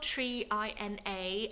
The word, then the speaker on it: 3INA: It's spelled Mina, and I did check online and it's pronounced Mina.